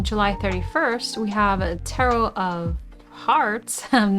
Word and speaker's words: Tarot of Hearts: large guide book ah tarot of Hearts it is heart plus art okay so that is how you pronounce it invites you to join